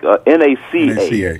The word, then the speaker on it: NACA: So if you're not familiar with NACA, how do you pronounce it? NAKA or no, it's just like NACA.